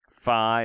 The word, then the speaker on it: Phi: of those is fine Phi or fee is pronounced like the pH and phone like a F sound Chi is like a